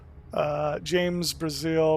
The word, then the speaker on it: Brazil: James Brazil, pronounced like country of Brazil.